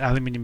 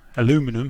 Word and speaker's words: aluminium: And again, this is going to be a black mask, but let's just yeah, aluminium is exactly right. We'll call this aluminium edging. Aluminum, is that how you say it in America?